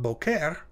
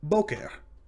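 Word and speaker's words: בֹּקֶר: Similarly, boker is also segalit because it's got two syllables, but it's not boker, it's boker.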